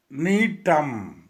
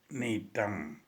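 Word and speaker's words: Gnetum: One more plant, neetum. Here, G is silent. Neetam.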